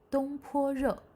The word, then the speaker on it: 东坡肉: 东坡肉.